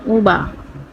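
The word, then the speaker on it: über: প্রথমে লিখলাম উবা। এটার উচ্চারণ কি? ইউংলাউড বি ই আ উবা কি এটা হচ্ছে ঝুলানো কোন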